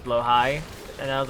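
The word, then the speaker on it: Blåhaj: Because I did a video about trans space marines and I said blahage and people were like, "That's wrong. It's blow high."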